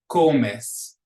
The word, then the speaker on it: comes: Comes, comes. Ends in an S, so the accent goes on the second to the last syllable.